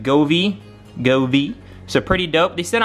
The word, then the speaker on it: Govee: I think there's, you pronounce it Govee.